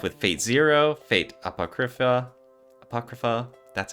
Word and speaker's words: Apocrypha: they've done stuff with Fate Zero fate Apocrypha Apocrypha that's how you say it that's right everything